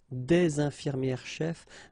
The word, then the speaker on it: des infirmières chefs: thing, une infirmière chef, des infirmières chefs, the only difference will be here in the liaison, because actually you don't pronounce this final S here or here.